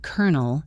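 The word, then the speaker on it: colonel: Like, the word kernel is a great example. Kernel. People have been saying it wrong for a very long time. Professor Williams points at Oliver. Excellent, kernel. The kernel pronunciation is a wonderful example of what linguists call a fossil word, albeit the term sounds dramatic. Albeit. A word where the spelling is essentially a fossil of an older form that no longer reflects how people actually speak.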